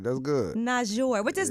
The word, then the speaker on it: Toosii: yeah yeah you said it right that's good not sure what does not sure mean like why does